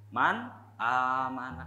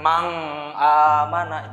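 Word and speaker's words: من آمن: contoh nyaman aman Hai Jadi gimana cara bacanya harus hindari ya nun sukun nya man aamana gitu jadi jangan Mang amanah itu ISPA banyak sekali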